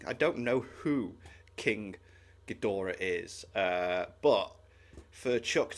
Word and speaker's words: Ghidorah: Z Fighters could stop King gadora is how you pronounce it King Gora Godzilla is